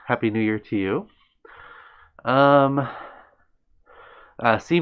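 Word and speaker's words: sí: C means yes in Spanish. Yes, Mike, that is correct. Except it's spelled S-I, and the I has an accent.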